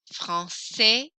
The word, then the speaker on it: français: Français, no S, français. Française, I hear the S very strongly there.